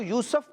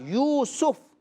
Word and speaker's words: یوسف: اچھا بچوں، اس کو بعض لوگ یوسف پڑھتے ہیں، سین کے اوپر زبر پڑھتے ہیں، تو یہ درست تلفظ نہیں ہے، اس کی درست پروناؤنسیشن کیا ہے؟ سین کے اوپر پیش کے ساتھ یوسف۔ کیا ہے؟